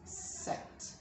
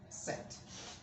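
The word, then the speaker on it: sept: say this excellent and number seven is set we don't say it because p is silent set now when you want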